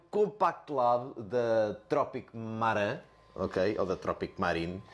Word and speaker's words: Marin: E é o Compact Lab da Tropic Maran, ok? Ou da Tropic Marine. Nunca vou saber como é que se pronuncia o IN. Acho que é Marine, também não interessa muito o quê.